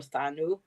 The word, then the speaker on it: Danu: don't but D danu you can pronounce it danu or thanu um she is that